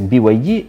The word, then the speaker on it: BYD: До речі, назва читається як BYD і походить від скорочення Build Your Dreams.